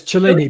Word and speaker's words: Cellini: Yes, Cellini, Benvenuto Cellini.